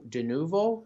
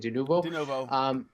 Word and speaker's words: Denuvo: So Tequila Works, the developer, basically said that their DRM, Denuvo, that's how you say it, Denuvo, they publicly said that if somebody hacks or